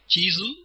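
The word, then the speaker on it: チーズ: Chisu is cheese. The chi is pronounced with the long vowel sound.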